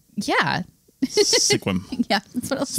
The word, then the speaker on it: Sequim: similarly confusing place in a little bit called Sequim, spelled Sequim. Mm-hmm. Yeah, I definitely said Sequim the first time when you looked at me like, yeah, what? And I'm like, yeah. Sequim.